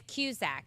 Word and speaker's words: Cusack: And it's Cusack, John Cusack.